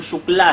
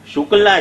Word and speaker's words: शुक्ल: के समस्त शब्दकोशों का कि शुक्ला जो है वो ऐसे चूके एले अंग्रेजों की स्पेलिंग के कारण हो गया, अन्यथा वो वास्तव में तो शुक्ल ही है।